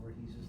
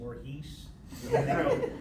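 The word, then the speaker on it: Voorhees: I kept mispronouncing Jason Borhees's name. I go Jason Borhees. Then they go cut. And I go what? They go it's Jason Borhees.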